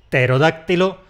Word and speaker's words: pterodáctilo: Más secuencias iniciales que se simplifican: [terodáktilo, nemotéknia, nómo]. El pterodáctilo es un reptil fósil que probablemente volaba. Una mnemotecnia es un truco para acordarse de algo y un gnomo… un gnomo es un geniecillo así… pequeñajo. A estas palabras les pasa lo mismo que a “psicología”. La primera consonante nos la merendamos.